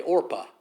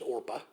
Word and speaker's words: Orpah: name in america oprah is actually orpah her name is not oprah it is orpah her name is orpah